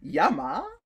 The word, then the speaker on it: llama: also stand for llama lama starts with l but technically it is pronounced yama wouldn't that be a